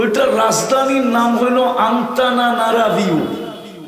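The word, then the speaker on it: Antananarivo: তো এটার রাজধানীর নাম হলো আন্তানানারাভিউ। উচ্চারণ করতে গেলে দাঁতও ভাঙতে পারে। আন্তানানারাভিউ।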